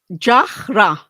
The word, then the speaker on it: Jara: My surname is pronounced as Jara, even though it's spelled as R, but that's the quirks of language, eh? Jahra.